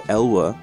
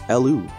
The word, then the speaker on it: Elu: I figured out what the Elwa, how to pronounce it properly. It's Elu.